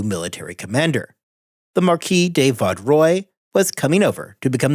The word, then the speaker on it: Vaudreuil: Also, as a further side note, during those episodes I had pronounced his name Vaudreuil. I was informed after the fact that Vaudreuil was a much better pronunciation.